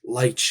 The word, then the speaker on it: lich: you know like a like a lich lych if you're pronouncing it properly because she can't feel